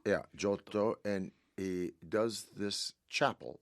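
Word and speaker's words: Giotto: Jotto. Yeah. Jotto.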